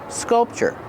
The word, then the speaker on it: sculpture: Remember, with sculpture, we make the sound ch-ch, like chicken. Sculpture. The first vowel is short, use the sound like cup and up, sculpture.